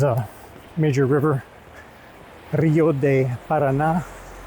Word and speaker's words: Paraná: You wouldn't think of that with a landlocked country, but there's a major river, Rio de Paraná, it's pronounced, Paraná River.